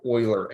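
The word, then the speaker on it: Euler: Kind of the way that we are going to use XYZ rotations are actually something called oiler angles. Um, which is spelled like that.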